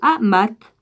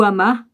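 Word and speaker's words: Hamath: dans le pays de amath ou vides ou hama ceci peut comme ça se prononce h à m ath où il prononça contre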